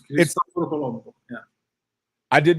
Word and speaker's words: Colombo: But when you look this up, this guy's name is actually not Christopher Columbus. It's Christopher Colombo.